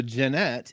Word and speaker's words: Jannette: I'd like to welcome Janet to the channel thanks for joining us hey thanks for having me and I think I just said your name wrong it's Janette right that's fine yes okay just making sure